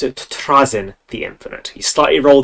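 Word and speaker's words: Trazyn: boy uh the audio book taught me to pronounce it Trin the infinite he slightly roll the r and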